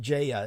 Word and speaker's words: Gaia: the Earth like the Gaia concept of Jaya is the actual pronunciation uh but when it